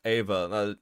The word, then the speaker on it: Eva: Like even Jellian gets shorten, even Gallian gets shortened uh to Eva and it's pronounced Ava.